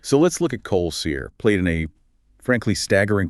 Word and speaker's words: Sear: And his last name, Sear, sounds like seer, as in a prophet or an oracle who is cursed to see the future and see the dead.